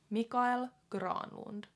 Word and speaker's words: Mikael Granlund: base last name but I feel like how I've heard it on TV how they pronounce it in Finland Finnish is Grande so